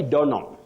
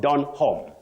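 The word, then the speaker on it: Donholm: that guide the pronunciation the H in that name is not pronounced you say Don not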